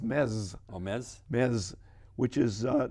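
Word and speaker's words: Metz: another city called mets m-e-t-s m-e-t-z it's calm it's called pronounced mess which is uh not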